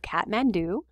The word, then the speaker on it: Kathmandu: are looking at a picture of kathmandu that's how to say it right here in parentheses and it's the capital